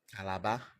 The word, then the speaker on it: Calabar: That's how it's pronounced. Also, it's Calabar.